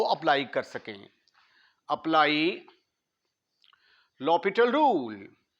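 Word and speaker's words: L'Hôpital: apply कर सके apply law पिटल rule ल पिटल रूल इसके स्पेलिंग हॉस्पिटल वाले हैं लेकिन हॉस्पिटल रूल नहीं पढ़ना इसको इसको लपल रूल पढ़ेंगे लपट रूल यह हमें कहता है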